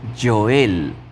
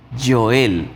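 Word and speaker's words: יוֹאֵל: importante es el profeta Joel. El profeta Joel. Y el nombre de Joel, ¿cómo se dice en el hebreo? El nombre de Joel en el hebreo se dice Joel. Joel.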